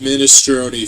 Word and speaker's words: minestrone: It's pronounced minestrone, Phil.